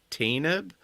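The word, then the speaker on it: Tanaab: at the Battle of tab but Bill Burr pronounces it tanb um but when you look at the caption it is spelled the same so that was like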